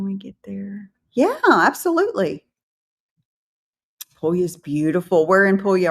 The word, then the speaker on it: Puglia: No, I No, I like Puglia. You have to say it like that. You You've got to say it when you say Puglia, you've got to say Puglia. It's important.